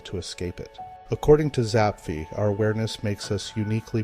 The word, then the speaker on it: Zapffe: Then came Zapffe, often pronounced Zapffe in his native Norwegian.